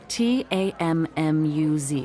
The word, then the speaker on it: Tammuz: find them his name is tammuz so what t-a-m-m-u-z it's pronounced tammuz maybe if you show me your